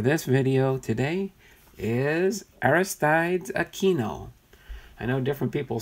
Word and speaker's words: Aquino: language so yes No some say Aquino Aquino that is the Hispanic way of saying that name Aquino the two almost sounds like a K when it gets pronounced that way okay at least that's